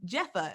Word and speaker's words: Jepha: today we're joined with a special guest um jeffa is that how you pronounce it yes all right dope all right